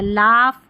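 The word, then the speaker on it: laugh: तो यहाँ पर देखिए लास्ट में है GH, इसको फ पढ़ना है। लाफ, यहाँ पर इसको कफ, और ये इनफ, तो यहाँ पर GH है, इसको हम फ पढ़ेंगे।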